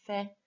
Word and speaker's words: fais: Fait, you can't hear the final S of fait.